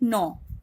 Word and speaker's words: gnaw: Okay, actually G remains silent over here. It is pronounced like gnaw.